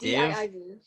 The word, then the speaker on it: DIIV: Did you say it's, how do you pronounce that? Div? DIIV.